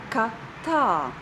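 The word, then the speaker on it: kā tā: The stress is on the second word.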